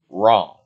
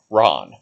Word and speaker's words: Ran: name is spelled ran r-a-n but it's actually pronounced wrong and there's a reason for that ron real name no length 15 feet to 300